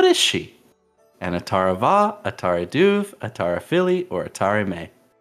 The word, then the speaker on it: Atara Duv: I think it was Atara Va? Maybe? Final answer? One? Final answer. No. No. It's Atara Duv. I'm going to avoid this one because it's spelled D-U-V without the E at the end.